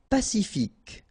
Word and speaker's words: pacifique: Pacifique. Q-U-E, K, ic.